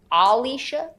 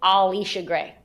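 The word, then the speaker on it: Allisha: Alisha. Alisha. What? Who said that? That's how you say her name. Alisha. No, you don't say Alicia Gray.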